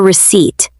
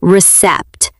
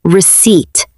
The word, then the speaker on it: receipt: We call it a receipt. Be careful with the pronunciation, friends. The letter P in receipt is completely silent. We do not say recept. We say receipt.